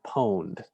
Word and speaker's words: pwned: there's a website called have i been pwned p-o-n-e-d p-o-w-n-e-d sorry pwned so p owned if you google have